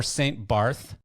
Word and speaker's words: St. Barth: Ellen is the editor-in-chief of Harbour Magazine for St. Barth and St. Martin, and organizes the St. Barth, which I believe is pronounced St. Bart, film festival, Cinéma Caraïbes.